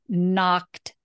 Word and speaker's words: knocked: knocked again knocked nope knocked knocked there you go wow it's I know it's really common to not pronounce that Ed on the end so if you know